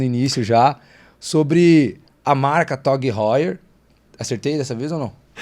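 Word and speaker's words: TAG Heuer: Na França, realmente, eles chamam de Heuer, mas no resto do mundo inteiro, TOG Heuer.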